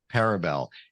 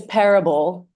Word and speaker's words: parable: with that literary term parabel am I explaining that right a story that has a direction you're definitely explaining it right you're not absolutely pronouncing it correctly though it's it's parable like Parable because the restaurant is